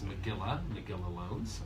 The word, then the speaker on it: Magilla Loans: But the correct pronunciation is Magilla Loans.